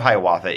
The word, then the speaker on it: Hiawatha: Song of Hiawatha is how it's usually pronounced, though Longfellow pronounced it Hiawatha.